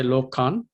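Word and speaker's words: lokān: The last word, I think the lokan, the N is silent or what? It's not. No, it is not. It's pronounced. Okay. So you will say lokan?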